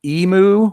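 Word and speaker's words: Yimu: Emu, Y-I-M-U is how she spells her name. Emu is how she Okay, pronounces it. She's a really nice gal.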